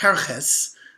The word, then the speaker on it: Xerxes: might be referring to king xerxes who would have been pronounced herres which is kind of close if you play telephone to ahash awares veros all of it